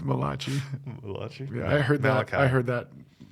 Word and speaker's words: Malachi: So are you in Malachi right now? Is that how you say it? No. We did Malachi last week.